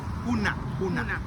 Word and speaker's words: huna: Huna. Yeah. Sasa unakuwaje mwanaume na huma sasampa? You keep on going to huma.